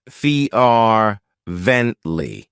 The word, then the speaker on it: fervently: of my favorites fervently it has three syllables and the stress is on the first syllable Fe ventle what it means is